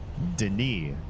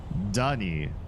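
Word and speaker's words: D'ni: So I'm just gonna say D''Ni looks like it should be pronounced Denis. Denis. With very little in between the D and the N, because there's an apostrophe there. You shouldn't actually have a vowel sound almost at all. Denis, Denis, like that. Not Dunny, not with the emphasis on the apostrophated, apostrophosed syllable.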